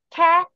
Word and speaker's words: cat: 그래서 cat, 캐, cat가 되죠.